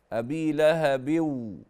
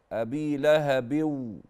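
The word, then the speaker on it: أبي لهب: يد ابي لهب وتب لا كده خطا ابي لهب النون التي في التنوين لا تنطق اذا جاءت بعدها الواو ابي لهب ابي لهب هكذا هذا اولا يبقى ما بطاش التنوين لو كان بعده الواو على طول في الواو له بو هكذا طيب بعد كده انت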